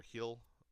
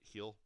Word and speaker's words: Gil: Year Awards went to Luis Gil of or Hill I guess not Gil but heel of the Yankees and